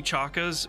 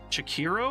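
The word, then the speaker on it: Chachere: we like uh Tony I call it Tony chakas but that's not how you pronounce it apparently I think it's pronounce shakiro orak well here let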